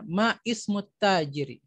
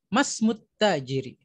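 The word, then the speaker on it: ما اسم التاجر: Maka kita tidak akan bertanya ma ismut tajiri. Tapi kita bertanya masmut tajiri.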